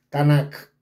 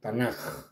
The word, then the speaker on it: Tanaj: su sonido entonces a por eso no se dice tanac sino tanaj como como si fuera una J tanaj Ellos tienen la